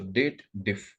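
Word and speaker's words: DATEDIF: So here people over here, date diff formula, they do the wrong pronunciation. They believe that there is a if logical formula available. That's why they read it as dated if. But technically, this formula belongs to date family.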